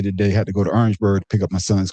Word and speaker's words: Orangeburg: Orangeburg. South Carolina. South Carolina. We call it Orangeburg. Not Orange. Orangeburg. That's right. When I was When I was there, man, that's how they say it.